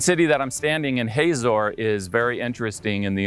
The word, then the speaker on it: Hazor: In Hebrew, the name is pronounced Hatsor, while in English, it's pronounced Hazor.